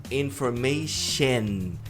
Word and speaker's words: information: A palavra informação, information. Então é e tem que pronunciar o N.